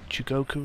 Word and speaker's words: Chugoku: have some fun on chugoku river chugoku chugoku river Shug chugoku is how you say it I don't know okay so